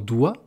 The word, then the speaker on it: doigt: Dans doigt, il y a même 2 lettres muettes. Il y a un G et un T.